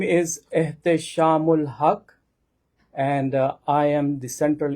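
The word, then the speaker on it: Ehteshamul Haque: My name is Shamul Hak and I am the central imam at Islamic Society of Greater Houston which is called ISG.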